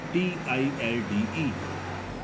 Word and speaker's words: tilde: This symbol is tilde, T-I-L-D-E. Here L is silent, so this is tilde.